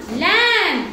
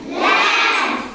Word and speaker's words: lamb: is silent MB MB B is silent B is for th th lamb lamb p is silent p